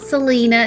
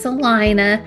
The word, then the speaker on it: Celina: It's not Selena, it's Salina. That's how you say it.